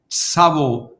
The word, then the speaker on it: Tsavo: She is the founder and chief executive officer of TSAVO Oilfield Services in Kenya. Did I pronounce it right, Elizabeth?